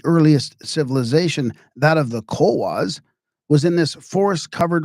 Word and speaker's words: Cohuas: This is Cowas, just like the Nawa.